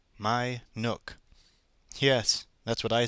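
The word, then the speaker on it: Minuke: those black lard animals they christened the place my Nook m i n u k e my Nook yes that's what I said too and not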